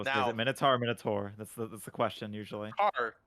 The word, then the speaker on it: Minotaur: Well, is it Now, Minotaur or Minotaur? That's the question usually. Tar. Taur, Tar. Oh, you're missing the U in that, aren't you? Minotaur. Okay, I'll let you have it. It's not tower.